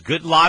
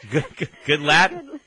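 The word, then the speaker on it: Goodlatte: did is the incumbents his name is good lot is that how to pronounce it no good lat good lat is how he goes yes we call him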